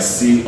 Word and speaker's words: crumb: But for something like this, the B is going to be silent, and this is called crumb.